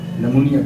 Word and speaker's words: pneumonia: Next नमूनिया, PNEUMONIA नमूनिया, P इसमें silent है।